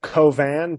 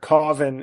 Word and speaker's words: Cauvin: rice right sure yeah if you're saying in French it's like kovan but Carvin is like the is is fine I a few years